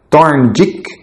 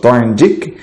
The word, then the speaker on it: Thorndike: passado, quando o psicólogo da Columbia University, Edward Thorndike, para fazer uma pronúncia um pouquinho melhor para você, se você quiser pesquisar aí no Google, é Thorndike, ele propôs que a eficiência interpessoal era de